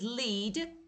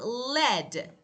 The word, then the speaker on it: lead: Okay, for example, we have lead and lead. The first one is lead to guide. The second one is lead, a type of metal.